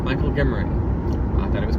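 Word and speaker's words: Guimarin: Michael Gimmerin, our friend, you should follow him on X, by the way, formerly Twitter, @ Michael Gimmer. It's spelled G U I M A R I N. Michael Gimmerin.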